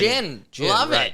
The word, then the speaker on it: Gin: JT Gin pitched, but it's spelled G I N. Jin.